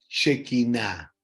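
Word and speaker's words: Shekinah: Se conocía esa llama como la shequiná de Dios.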